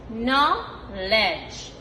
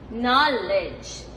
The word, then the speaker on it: knowledge: The K is silent. We don't really hear it. N-A-W. No. L-E-D-G-E. L-E-D-J. L-edge. Knowledge. Knowledge.